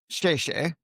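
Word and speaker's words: 谢谢: Uh, how do you say thank you? Sheshe, all right? All right, that's how you say it.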